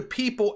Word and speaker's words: PYYPL: It's through the People app, right? The PYYPL, which is pronounced people, which is helping to accelerate, cross-border payments, cheaper, more efficient, scalable, the whole deal.